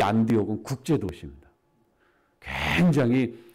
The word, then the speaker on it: 안디옥: 그 헬라어 발음으로 하면 안티오크라고 이제 발음을 하는데 이 초대교회 시대의 이 안디옥은 예루살렘이랑은 비교할 수 없는 큰 도시입니다.